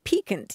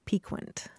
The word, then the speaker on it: piquant: I mean, we were talking about the word piquant. You used it a couple of weeks ago. And I had always heard it pronounced piquant.